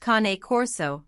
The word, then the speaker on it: Cane Corso: Regardless of the etymology of the name, the Cane Corso, pronounced Cane Corso, may be a dog through and through, and one whose instinct is to safeguard their family.